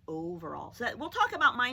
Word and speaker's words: Overall: right i do but mine is a long o mrs overall that o says its name i'm not mrs auberal yeah mrs overall so we'll talk about